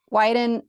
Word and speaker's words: Weiden: and an urgent dispatch for from Indian country widen uh and now I said it right wrong you said it right right why didn't because I've been saying it wrong for so long um Wyden writes with impressive Authority and insight in this